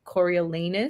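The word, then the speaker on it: Coriolanus: name I was like reading it like Cornelius and it's like Corel corilanus cor corus corus anus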